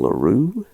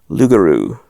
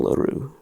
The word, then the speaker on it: Leroux: Gaston Leroux? Gaston Leroux, is that how you pronounce it? Gaston Loup-Garou. No, it's Gaston Leroux, I guess.